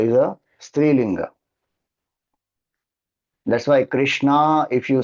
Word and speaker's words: Krishna: take refuge of Bhagwan Krishna. If you say Srishna, you may intend to say my I take refuge of Bhagan Krishna but Sanskrit pronunciation wise you are saying I take refuge of Draadi.